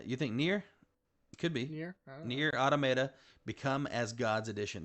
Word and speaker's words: NieR: I'm going to say Nier, just because that's the simple way to pronounce it. Nier.